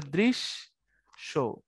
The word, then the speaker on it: দৃশ্য: তো তুমি এটার উচ্চারণ হবে দৃশ্য শো, কিন্তু উচ্চারণ হবে দৃশ শো।